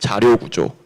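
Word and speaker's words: 자료구조: It's pronounced Jaryo Gujo.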